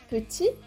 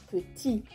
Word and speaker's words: petit: Por ejemplo, petit, forma masculina, no suena la T final, petit.